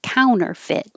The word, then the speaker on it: counterfeit: a lot of ours counterfeit you don't have to say the middle t because it comes after an n in the unstressed syllable so it can disappear counterfeit scrupulous scrupulous reverberate reverber